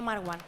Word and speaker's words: Marwán: que el pobre No Mar One que ha tenido por eso es mar One que el pobre ha tenido que poner una tilde en su nombre para que lo intentemos pronunciar bien y eso que que